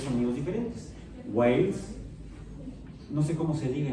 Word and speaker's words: Wales: desde Galicia hasta Gales, solo que en inglés Gales no se pronuncia así. ¿Cómo suena? Hablando de símbolos fonéticos, estamos hablando de símbolos, con un ejemplo geográfico humano, de geografía humana. ¿Sí? Wales es Gales, en la isla actualmente.